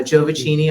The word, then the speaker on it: Giovacchini: please help me so so I say Joe bikini uh Joe vicini also works uh yeah there's there's